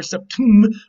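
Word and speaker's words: *septḿ̥: it to you here septum with the accent on the last syllable on the um and not on the set what this means is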